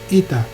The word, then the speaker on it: eta: Itu adalah ita. Ita adalah E, walaupun bunyinya nanti dibacanya I.